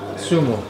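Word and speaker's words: zumo: Yeah, but it's not Udo. It's, how do you say it? Zuma? Sumo. Sumo. Yeah. Sumo. Like sumo wrestling.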